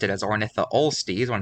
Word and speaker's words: Ornitholestes: And in Ornitholestes, I accidentally pronounced it as Ornitholestes when it's actually Ornitholestes.